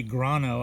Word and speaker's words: Grano: These are the Texas early grano. I pronounced it grande last time. My mistake.